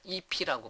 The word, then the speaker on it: IIFE: 이런 걸 뭐라고 하냐면 함수를 선언과 동시에 호출한다 해서 immediately invoked function expression에서 IIFE 해서 발음할 때는 EP라고 발음합니다.